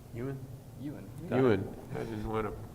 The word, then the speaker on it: Ewan: Before we go, I do want to thank Andy and Todd and how do you pronounce your name? Ewan.